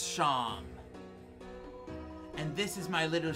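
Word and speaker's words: Seam: anything better to do the name scene pronounced shawn and this is my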